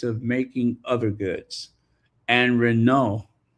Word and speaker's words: Renault: And Renault, Renault. The T is silent. Renault.